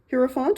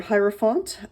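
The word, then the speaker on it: hierophant: Heropant or hieropphant. Um I've heard it pronounced both ways.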